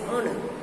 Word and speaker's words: honor: Here H is silent in the word honor and R.